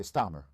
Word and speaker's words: Starmer: No caso do Reino Unido, quando o primeiro ministro K Starmer, cuja pronúncia talvez eu tenha errado, você está pronunciando corretamente Starmer.